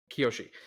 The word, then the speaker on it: Kiyoshi: Kiyoshi.